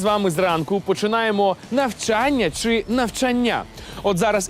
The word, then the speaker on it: навчання: буде не так легко слово навчання вимовляється з наголосом на другу букву А ви ж теж так кажете Навчання навчання навчання навчання навчання навчання опапа ось тут і підловив десь Я до речі теж чув що так частенько вимовляли Та в нас викладачі так кажуть постійно О то мабуть і у мене колись так казали Та все ж правильно казати Саме навчання із наголосом на другий звук А навчання навчання навчання